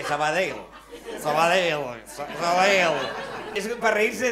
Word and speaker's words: Sabadell: Quieres pronunciar la doble L al final, porque aquí decimos Sabadell y nos fumamos un puro y él te dice Sabadell.